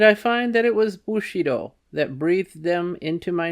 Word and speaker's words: Bushido: In my attempts to give satisfactory replies to Monsieur de Leveillé and to my wife, I found that without understanding feudalism and Bushido, footnote, pronounced Bu-shi-do, in putting Japanese words and names